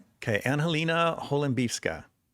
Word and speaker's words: Holembivska: So, and then your last name is Hollifska. Right. Right. Okay. An Helina Holiffka.